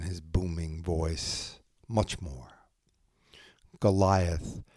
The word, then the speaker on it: Goliath: Goliath, pronounced Golat, descended from that ancient race of giants, the notorious Nephilim.